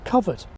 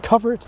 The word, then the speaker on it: covert: And in America, cover it was the only pronunciation given in Webster's high school dictionary of 1868.